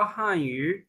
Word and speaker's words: 汉语: Sir, H को हम ख पढ़ेंगे कि ख? ख. फातिमा, आपके क्वेश्चन की समझ नहीं आई बच्चे। H को ह पढ़ेंगे या ख पढ़ेंगे? Can इसको हा पढ़ लेंगे हम, हा से, हान यू।